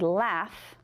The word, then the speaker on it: laugh: There's no F in there, and I hear a F sound. But you know what? That A-U-G-H can also have the F sound.